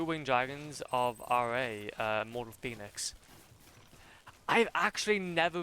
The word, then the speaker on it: Ra: So are those like technically rare then in that case?